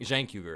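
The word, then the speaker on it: Cenk Uygur: nobody uh vote for Jank Jank yuger is how you say it my bad I really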